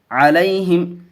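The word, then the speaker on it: عليهم: علی، حامیم زر ہم، علیہم، یہاں بھی یالین کا قاعدہ ہے اس لیے جلد پڑھیں گے.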